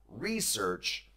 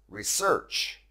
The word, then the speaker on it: research: verb research research now this verb actually has two acceptable pronunciations you can say it as i just have research but you can also pronounce it as research both are okay i